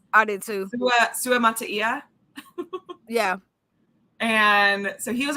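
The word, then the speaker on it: Suamataia: And then we had Kingsley, which I found out how to pronounce his last name. I did too. Sua Mataia.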